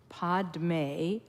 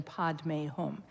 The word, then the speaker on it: padme: as an example man padme that's the Sanskrit pronunciation but here a lot of people use the Tibetan pronunciation is the same mani is the name, but it's pay rather than padme.